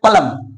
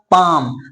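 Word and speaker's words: palm: आप भी पढ़ते होंगे पलम पलम जो कि गलत प्रशन है रियल प्र क्या होगा पाम मीस क्या होता है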